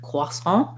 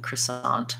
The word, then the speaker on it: croissant: runs the french bakery you can do your best with quasman or you can go more kind of neutral american croissant on that word um thanks